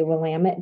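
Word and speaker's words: Willamette: tell our tourists that to help remember them how to pronounce it we say wamit Dam it there are a lot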